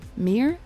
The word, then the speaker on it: Mir: i should say uh the reason i say it like that is that mir is actually um the first um a calm brain anymore anyway mir is the russian word for peace i actually quite like